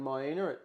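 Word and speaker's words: Miena: And uh we are just now in how how you pronounce correctly. Um May We're in Maya at Great Lake in the central highlands of Tasmania.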